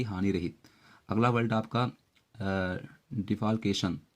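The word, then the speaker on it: defalcation: अगला वर्ड आपका डिफाल्केशन। तो डिफाकेशन यानी होता है गबन घोटाला, यहाँ एल साइलेंट है, डिफाकेशन बोलेंगे।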